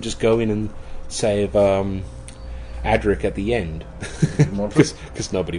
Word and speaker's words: Adric: Look at Adric. Well, it's even worse when you hear Americans say Adric, and they call it Adric.